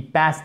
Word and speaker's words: passed: He passed out. He passed out. Passed. Ici c'est un te, ok? Puisque ici le radical se finit par un S. Donc du coup le ED se prononce comme un te.